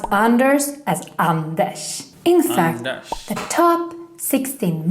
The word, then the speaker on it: Anders: Remember, in Swedish we pronounce Anders as Anders.